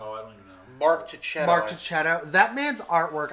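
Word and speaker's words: Marco Checchetto: Macento? I always pronounce it wrong. For what? Daredevil 25. Oh, I don't even know. Mark Tichetto.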